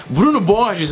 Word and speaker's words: Borges: so here's the story Bruno B is and yes that's the actual Brazilian pronunciation of his name was a 24-year-old psychologist